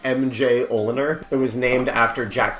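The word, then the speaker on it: Mjolnir: the name of Thor's hammer yogurt it's actually pronounced MJ Ola nerd it was named after Jack Kirby's father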